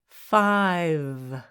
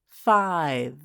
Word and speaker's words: five: is I like ice five the E is silent we don't say the E silent E makes the I make the sound I like ice five nine the E is